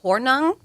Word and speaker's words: Hornung: one from the NBA you got poor Paul hornung that was uh morning Green Bay Packers morning